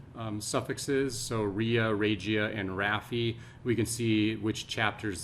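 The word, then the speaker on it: rrhaphy: The raphy or raphy, the R-R-H-A-P-H-Y.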